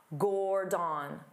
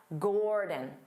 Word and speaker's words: Gordon: his name wrong because they pronounce it as da-da, Gordon, Gordon, da-da. But that's not how you say his name. But of course, he's polite and he never corrects the local chefs. His name is Dada, Gordon, Dada, Gordon, Gordon. Because the first syllable is stressed, gore, so the second syllable